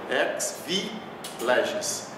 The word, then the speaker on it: ex vi legis: E aqui é outra expressão, ex vi legis. Ex, o X tem som de KS, ex vi legis, que significa por força da lei.